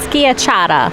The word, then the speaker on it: schiacciata: I think it's pronounced Schiacciata.